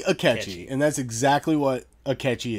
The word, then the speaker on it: Akechi: And it rhymes with his goddamn name. Sketchy Akechi.